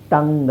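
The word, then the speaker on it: tongue: guess ಹಾಗೆ ಇಲ್ಲಿ ನೋಡಿ ಇವೆರಡು ಸೈಲೆಂಟ್ ಇದರ ಟಂಗ್ ಅಂತ ಹೇಳಬೇಕು ಬಟ್ ಈ ಅಕ್ಷರ ಹಾಕಿದ್ರೆನೆ ಇದನ್ನ ಟಂಗ್ ಅಂತ ಓದ್ತೀವಿ ಈ ಅಕ್ಷರ ಹಾಕದೆ ಇದ್ರೆ ಟಿ ಓ ಎನ್ಜಿ ಟಾಂಗ್ ಆಗುತ್ತೆ ಓಕೆ ನೆಕ್ಸ್ಟ್ ಡೈಲಾಗ್ ಇಲ್ಲಿ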